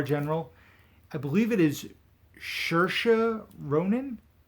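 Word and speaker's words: Saoirse: i believe it is shersha ronan i believe her name rhymes with inertia so shersha i believe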